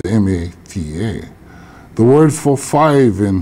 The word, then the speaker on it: mata: pronounced Maka in Malaysia the word is spelled m a t a pronounced Mata now thean the S the fijen and